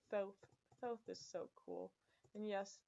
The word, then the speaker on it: Thoth: Thoth is so cool. And yes, it's pronounced thoth, not thought.